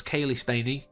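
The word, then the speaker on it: Cailee Spaeny: by Dan oanon and Ron shusett this Stars Kaye spany and I've looked that up Apparently that is the proper pronunciation David Johnson Archie Renault and Isabella methed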